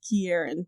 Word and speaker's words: Ciarán: expedition it's Irish yeah I looked at the pronunciation online and the lady the YouTube video said Kieran but I have actually no idea so you know it's my